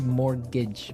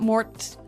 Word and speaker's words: mortgage: Yeah, it has a T in it, but you don't pronounce it. You say mortgage. Mortgage. So, not mort mortgage.